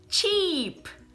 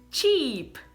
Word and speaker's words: cheap: Uma é escrito com EA. Então vai ser o som de I, né? I, é o sorriso. I. Então como se fala a primeira palavra? Cheap. Cheap, né? Tô exagerando, mas é assim. Cheap.